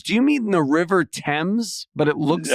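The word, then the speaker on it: Thames: you say themes do you mean the river TS but it looks like th TS excuse me th themes what t h mes yeah yeah it looks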